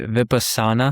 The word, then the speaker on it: Vipassana: Then there is the dude, these are hard to pronounce, John. The Vipassana, I believe is how you pronounce it.